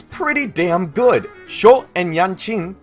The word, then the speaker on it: Yan Qin: Sho and Yan Qin, though it's pronounced as Yan Quinn in this game, are essentially for-hire investigators.